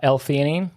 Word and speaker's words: alanine: it you're tell me how to say it alanine yeah yeah that's can we talk about that